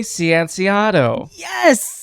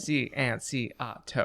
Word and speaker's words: Cianciato: Nope, you nailed it. All 5 syllables of it. Cianciato.